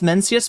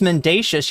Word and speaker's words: Mencius: So if you're talking about Mencius, it's Mencius Moldbug. I thought it was Mendacious.